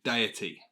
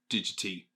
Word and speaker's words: Deity: video this company is actually called deity not digity as what i said